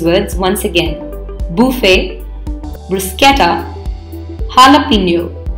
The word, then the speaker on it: jalapeño: topping in many dishes it is often incorrectly pronounced as champion please remember the jr.